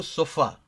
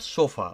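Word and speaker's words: sofá: Okay, for example, o sofa, when you pronounce, it's not sofa. Okay, sofa, it goes a different way.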